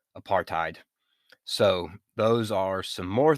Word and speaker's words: apartheid: just on me but i always say apartheid and it's really apartheid so those are some